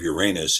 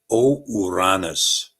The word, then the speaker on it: Uranus: One is that I really believe that the pronunciation of Uranus is actually Uranus.